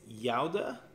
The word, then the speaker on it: Gouda: forgot this wrong again the proper pronunciation is Yoda and so sorry if